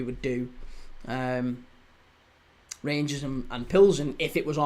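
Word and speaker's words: Plzeň: How to pronounce Pzen. Pilsen. Victoria Pilzen. Yeah. Pilsen. There you go. Pilzen. Victoria Pilzen. That's how you say it.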